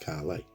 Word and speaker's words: Caley: can see there that it says pronounced Carly so let's be brutally